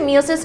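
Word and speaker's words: meiosis: মায়োসিস কে নিয়ে। যেটাকে আমরা আগে বলতাম মিয়োসিস। কিন্তু আসল প্রোনাউন্সিয়েশন হচ্ছে মায়োসিস।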